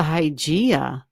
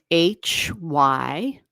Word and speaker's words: Hygeia: It's spelled Hygeia. And it might not even be pronounced Hygeia. That's just the way I pronounce it. Hy, Y as in yes, G as in G, EIA. That's Hygeia.